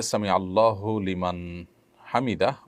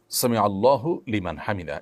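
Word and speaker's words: سمع الله لمن حمده: ফেলেছেন দেখুন সামি আল্লাহু সামি আল্লাহু লিমান হামিদা এটি হলো শব্দের সঠিক উচ্চারণ সামি আল্লাহু লিমান হামিদা সামি আল্লাহু লিমান হামিদা এটা সঠিক উচ্চারণ নয় থামতে হবে সেখানেই যেখানে মানুষ ওয়াকফ করবে ওয়াকফ না করলে সেখানে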